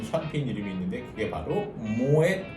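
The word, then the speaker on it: Moët: 그래서 모에 샹동이라고 발음하시는데 모엣이라는 것은 프랑스어가 아니고 이 모엣 에 샹동 샴페인 하우스의 창립자 네덜란드인의 성입니다. 패밀리 네임이에요. 그래서 이거는 불어가 아니기 때문에 뒤에 모엣 하고 끝까지 발음을 다 해주셔야 돼요.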